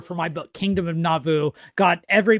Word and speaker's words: Nauvoo: And also, I think I scared him when I told him that most people mispronounce it in the first syllable by saying Nauvoo.